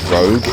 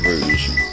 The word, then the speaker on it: Rouge: I love the people who say Rouge as Rogue.